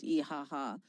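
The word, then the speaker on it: İHH: And that flotilla, I believe it sailed from Turkey, and there's a big national organization in Turkey called İHA. It's spelled IHH, and in Turkish it's called İHA.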